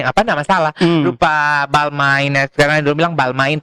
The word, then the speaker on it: Balmain: Lupa Balmain, sekarang dulu bilang Balmain, itu bacanya Balmong. Balma bacanya begitu.